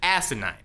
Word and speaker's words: asinine: to me if you that's right I said asinine with an emphasis on the first syllable it seems absolutely ridiculous